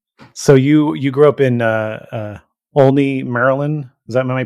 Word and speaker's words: Olney: So you grew up in Olney, Maryland. Am I pronouncing it correctly?